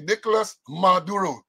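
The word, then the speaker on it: Nicolás Maduro: Got to pronounce it correctly. Nicolas Maduro.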